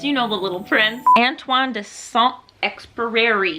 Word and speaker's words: Antoine de Saint-Exupéry: Antoine de Saint-Exupéry. How do you say this? Lawrence speaks French. How do you say Antoine de Saint-Exupéry? Antoine de Saint-Exupéry.